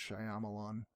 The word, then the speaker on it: Shyamalan: pronounced Shyamalan, and I have been saying it wrong And what my a entire long life.